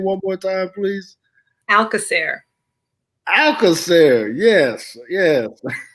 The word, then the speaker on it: Alcoser: say your last name one more time please alaer alair yes yes butchered that I'm glad I didn't try that